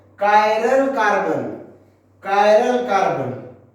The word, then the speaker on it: chiral: कायरल carbon. कायरल carbon, कोई pronounce में चिराल carbon ऐसे भी बोल देता।